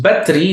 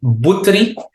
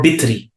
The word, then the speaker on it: Butri: The Arabic, I cannot say, because Batri is actually a mispronunciation. It's actually Butri or Bitri.